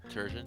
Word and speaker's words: Turgeon: He says Turgeon. Turgeon, yeah. Turgeon rhymes with sturgeon.